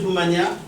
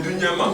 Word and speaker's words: Dunyama: Doumania, M. Ndombi, M. Alexis. Moi, là, ceux qui devant le... J'ai mal prononcé votre nom? C'est Dunyama.